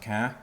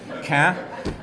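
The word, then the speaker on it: Caen: right but it's pronounced ka because in French there are four letters and three are not pronounced so ka and uh he he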